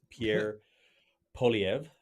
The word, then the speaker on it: Poilievre: I'm going to try and make sure I pronounce this right. It is Pierre Poilievre. Poilievre? Yeah, Pierre Poilievre.